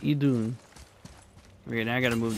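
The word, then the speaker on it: Idunn: It's Idun.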